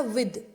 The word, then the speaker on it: with: विद, ये spelling है WITH, इसको बहुत से जने विथ बोलते हैं, विथ, जबकि ये होता है विद, द होता है।